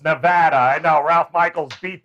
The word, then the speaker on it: Nevada: is yes he he will absolutely continue to pronounce it wrong as do a lot of other people it's nevada isn't it no it's nevada i know ralph michaels beat that into me